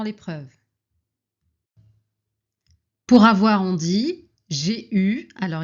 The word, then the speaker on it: eu: Pour avoir, on dit j'ai eu. Alors ici, on écrit EU, mais on prononce U, comme si on n'avait pas de E.